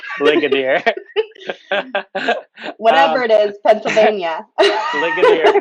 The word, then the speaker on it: Ligonier: Is that the right pronunciation? Okay, Ligonier. you have to say that. Ligonier. Ligonier.